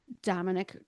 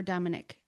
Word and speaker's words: Dominique: Dominique or Dominic. Dominic. Dominique? No. Dominic. Yeah. I think they pronounce it like IK at the end.